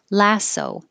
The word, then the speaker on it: lasso: that word before lasso the vowel is a as in hats you have to open and put your lips back lasso 19 ends with a